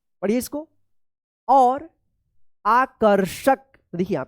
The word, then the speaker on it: आकर्षक: और आकर्षक देखिए यहां पे आकर्षक आकर्षक। यहां पे रे रेफ की मात्रा है तो क के बाद आधा र उच्चारण होगा और आकर्षक में देखिए यहां पे मूर्धन्य श लगा है।